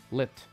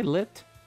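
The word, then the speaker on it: Licht: Yes, my name is Lynch. Lit. Hi, Lit. CH is silent.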